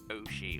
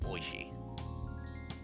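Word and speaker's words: おいしい: Would you say that pronounced oshi or oishi? Is the i silent or oi? Oh, oi.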